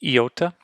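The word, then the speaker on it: ἰῶτα: sound the ah next is an iota makes an e sound as in in the English two e's coming together e uh e next is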